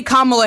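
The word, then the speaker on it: Kamala: both say KLA Harris you can say kamla Harris with an accent get it together accents don't make it so that you can't pronounce someone's name right it's about the inflection and the emphasis you put on one a as as reference to the other it has nothing to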